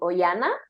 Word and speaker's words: Oihana: principalmente en instagram estoy como cuerpo emocional by oyana oyana mi nombre se escribe o con i latina o I latina